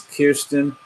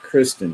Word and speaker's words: Kirsten: when you say hey my name is Kirsten not Kristen because a look look